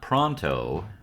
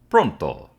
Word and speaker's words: Pronto: Today we are talking about not pronto but pronto if you ask me. That's how it should be pronounced because so much of this book takes place in Italy.